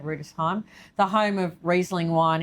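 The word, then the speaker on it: Rüdesheim: It's spelt Rudesheim, but I think you say it Rudesheim, the home of Riesling wine in Germany.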